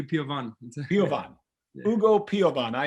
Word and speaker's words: Piovan: And with us on the show, you brought junior goalkeeper Ugo Piovan. Am I pronouncing that right, Ugo? It's actually Piovan.